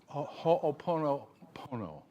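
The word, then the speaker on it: Hoʻoponopono: And that is that this business, now you're going to have to correct my pronunciation, but it's Ho'opono. Is that right? Ho'oponopono.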